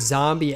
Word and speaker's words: Nzambi: But the fun fact behind this is that the word zombie actually originally comes from a word zombie, which sounds just like zombie, but it's spelled Nzambi.